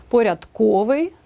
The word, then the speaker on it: порядковий: і кулінарія дев'яте правило прикметники здебільшого мають наголос на останньому складі наприклад новий текстовий малий чудний цупкий крім слів запам'ятайте їх порядковий та ринковий 10те правило завжди наголошеним